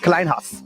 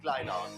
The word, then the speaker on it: Kleyhans: Kleyhans. It's real old German, you know, so it's Kleyhans.